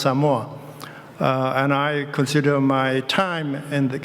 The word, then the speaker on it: Samoa: They pronounce Samoa.